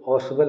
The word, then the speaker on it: Ausable: देखिए यहाँ पर जो ऑसवेल है, AUSABLE, ऑसवेल, ये वाली स्पेलिंग पढ़ेंगे।